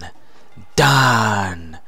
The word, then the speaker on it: Fandango: FAHN-DAHN-GOOOO. I did it right. That's how you say his name, right?